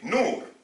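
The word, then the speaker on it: نور: Regardez, on prend un noun, on met un waouh et un ra, ça nous fait nour.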